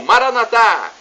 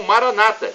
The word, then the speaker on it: Maranata: E agora, do aramaico, dialeto de Jesus, eu clamo, Maranatá, como dizemos nós católicos, ou Maranata, como dizem nossos irmãos os protestantes. Não importa a pronúncia, somos todos irmãos e o significado é o mesmo. Vinde, Senhor Jesus.